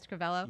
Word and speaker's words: Scrivello: And it is, did I say it right, Scrivello?